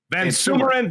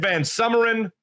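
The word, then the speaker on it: VanSumeren: Ben van Surman but who I always say his name wrong I think too V it goes either way man Van sumerin van summeran yeah don't even get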